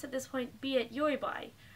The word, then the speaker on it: Taobao: I went to Yoibai, that's the right pronunciation.